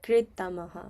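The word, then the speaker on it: कृत्तमः: Sarvēbhya Sarvēbhya Pāpakr̥ttamaḥ Pāpakr̥ttamaḥ So, like you have to imagine like there's like a like a I in the middle. So, like it would be like kr̥ttamaḥ, okay?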